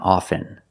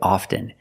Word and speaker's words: often: words soften and often with both words I don't pronounce a t i say soften and I say often but sometimes you'll hear people say often and it's not wrong it's okay people say both often and often I prefer often